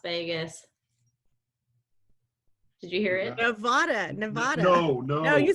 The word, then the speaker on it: Nevada: It's Nevada. It's an A, not an O.